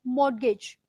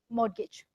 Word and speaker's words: mortgage: vowels are written like mortgage mod gauge right we don't pronounce t it's very silent so for years for